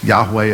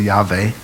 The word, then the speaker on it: Yahweh: Sometimes that letter V is pronounced as a W. Different people have different ideas about how that should be pronounced. That's why some people say Yahweh, other people say Yahweh.